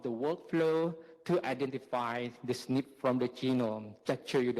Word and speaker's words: SNP: nucleotide polymorphism on chart SNP or snip maybe pronounce nip so the top today